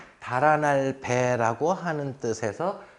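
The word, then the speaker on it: 北: 이렇게 등을 지고 놓아요 그래서 이걸 자는 해석을 읽을 때 배 라고 읽어야 되는 거예요 그래서 죽은 사람이 머리를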